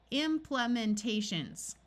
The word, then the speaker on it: implementations: one at a time let's switch this long e to a short e implementations now looking at this